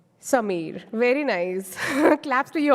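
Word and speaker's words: Sameer: name is s a m e e r Samir very nice claps to you all that worked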